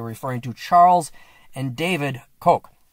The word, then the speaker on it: Koch: When you hear the Koch brothers, you're referring to Charles and David Koch. It's spelled Koch, but it's the Koch brothers.